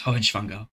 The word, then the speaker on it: Hohenschwangau: Oh, I'm just trying to get the pronunciation. That's okay. Nordrhein-Stein and Hohenschwangau. Okay. No, it's Hohenschwangau.